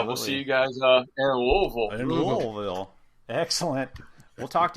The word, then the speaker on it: Louisville: You're gonna hate me, but Louisville. Did I say it right? Not quite, but close enough that we knew what you were going to say. That's all that counts. Louisville.